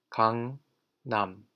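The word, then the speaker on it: 강남: be Cong Cong and now we know that this word is pronounced Cong num have you ever heard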